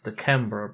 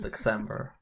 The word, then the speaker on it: Deckcember: A lot of people were like, it's Deckember, but no, I invented the word. So I say how it goes, it's Deckcember. And you can't stop me.